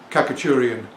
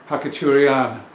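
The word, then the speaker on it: Khachaturian: example uh hakan uh in the English speaking world most people say katurian U but I was married to a Russian woman for 20 years and I said Kaku and she laughed she said it's huan so with stress on the last syllable so so there we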